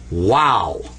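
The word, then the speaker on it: واو: so amazing it's called wow that's wow and of course it represents the w in the english language we usually represent it with english letters w a w wow wow okay let's do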